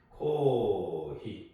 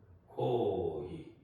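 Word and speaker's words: コーヒー: 코히 코히 코히 코히 이렇게 말하면 안 돼요 코히 그러니까 코를 한 번 더 길게 반응한다고 보시면 돼요 히도 마찬가지로 히 코히 그다음에 이제 우리 맥주를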